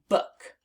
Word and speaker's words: book: So this word is book, book. Now let's spell it on our arms. B-O-O-K, book. Again, B-O-O-K, book. And that is the word book. And it rhymes with the word look.